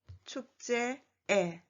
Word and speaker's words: 축제의: And the second and the third 의 is a possessive particle, so it is pronounced as 에. 회의에, 축제에.